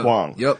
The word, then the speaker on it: Huang: book by Eddie H how do you say it h u a n gang Eddie hang Eddie hang uh fresh off the